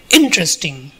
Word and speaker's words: interesting: When you say interesting, the first syllable is stressed. When you say specific, second syllable is stressed.